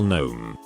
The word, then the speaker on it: gnome: I believe gnome spelled wrong. There isn't a K. Her. It's silent. Me. No, I mean it's a G and the G is silent.